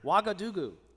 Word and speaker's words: Ouagadougou: Ouagadougou. Is Is that how you say it? That's it. That's actually really accurate.